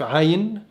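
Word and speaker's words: עין: اليهود السفرديم بيقولوا عين زي العربي، الاشكناز ما بيعرفوش يقولوا حرف العين، ما بيقدروش يقولوه، فبيطلع حرف سايلنت زي الهمزة. زي كلمة عين اللي هي العين، هم بيقولوا عين، صعب عليهم ان هم يقولوا حرف عين.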